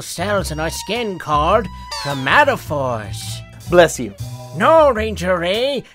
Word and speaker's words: chromatophores: chromatophores whoops my bad um so these uh chromatic tomato fours tomato Falls really Ray don't beat yourself operator eh it's a hard word it's pronounced chromatophores chromatophores got it and how do they change your